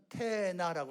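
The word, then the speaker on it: תאנה: 무화과 나무는 테나라고 합니다. 그들의 말로 테나. 그리고요, 요 돌 무화과 나무는요 시크마라고 합니다. 완전히 발음 다르죠.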